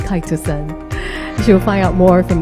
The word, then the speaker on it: chitosan: for your time today just yesterday i was pronouncing it as chitosan today i know it's kai to she'll find out more